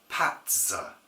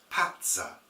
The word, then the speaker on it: patzer: will understand okay well it's easy to pronounce Patza Patza p a t z e r simples pza pza on